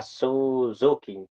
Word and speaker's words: Suzuki: Yeah, Suzuki is how you say his name.